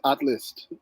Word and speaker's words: ATHLST: do you pronounce it that's that's how you pronounce this atlas uh without the vowels but uh yeah without